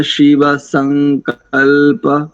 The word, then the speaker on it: संकल्पमस्तु: दंत सकार है ना, तो दांतों की सहायता से इसको देखो, तन्मे मनः शिव संकल्प, शिव संकल्प, इस प्रकार से। ठीक है नंदन जी।